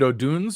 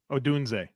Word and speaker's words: Odunze: Is it Oduns or Adunze? Odunze. Okay. Odunze. Good. I've been purely by random accident pronouncing it correctly.